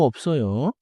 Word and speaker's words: 없어요: Now 없어요. Close your lips first, then release into 써요. 없어요. 없어요. 좋아요. If it sounds like 어서요, the lip stop disappeared. Try again with a closed mouth first.